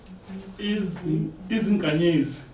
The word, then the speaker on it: Izinkanyezi: How do you pronounce this? Matsotsi? Izinganyezi.